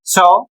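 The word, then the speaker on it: shove: इसको पढ़ा जाएगा शव।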